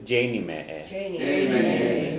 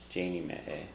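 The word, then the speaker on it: déanfaidh mé é: And I will do it is Janie me a. So again, you don't pronounce the F in the future. Janie me a.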